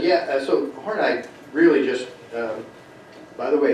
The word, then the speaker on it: Horney: Adler said yeah so horney really just by the way it is pronounced four nine I just want to